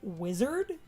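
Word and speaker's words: Wizzerd: I pronounce it weezard because of the extra Z, but some people will just say wizard, but I always did the weezard.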